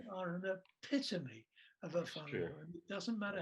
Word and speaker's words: whānau: And one of the words that they use is whānau, WH, which is F in Maori pronunciation, WHANAU, whānau.